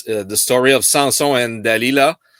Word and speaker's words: Dalila: So it's the story of Samson and Dalila. Maybe in English it's Delia, but Yeah, we say Delilah. yeah, because I keep the Latin pronunciation.